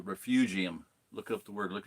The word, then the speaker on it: refugium: being a refugium and it's not called Refuge Refugee and it's a refugium Look up the word